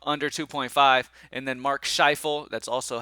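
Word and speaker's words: Scheifele: y'all say um under 2.5 and then Mark shifel that's also how you say his name is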